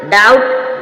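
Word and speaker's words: doubt: बी से पहले एम होगी जब भी एम साइलेंट रहेगा डेट ट मींस कर्ज इसी प्रकार डाउट डाउट मीन शक यहां पर भी टी हमने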